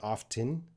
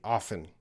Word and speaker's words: often: native speakers will say often and some native speakers will say often again it depends on the region in the world but let's see what's